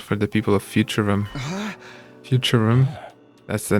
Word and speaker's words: Futurum: Futurum. That's the name of this planet. That's how it sounded pronounced in the local tongue. Anyway, Futurum, the name of this planet.